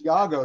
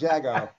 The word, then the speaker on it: Diego: how to pronounce it it's Iago not Jago okay introduce yourself Diego